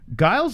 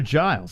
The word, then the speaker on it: Giles: to clear his throat guiles are giles i thought it was guiles i thought it was giles couple of fights you might not know about like i don't even know how to say their name let's start right here trevin giles versus giles is he sure that's right he says guiles all right let me